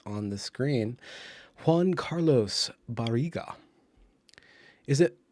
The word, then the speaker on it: Barriga: carlos barrigan is it it's got to be baraga right uh not barisia that would not be i don't think that's a spanish or hispanic or latinx uh pronunciation it's barriga uh that sounds something like uh something like a dane would do and we're not